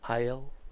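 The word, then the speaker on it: I'll: ejemplo que he puesto Pues pronunciaría algo así como a él a él a él que es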